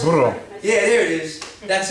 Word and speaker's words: burro: I say birdo, birdo. They're like, it's not a birdo. There's no such thing as a birdo in Spanish. Everybody know how to say it? Right, a donkey? Can you roll your R's? I used to be. Did somebody roll their R's? Burro.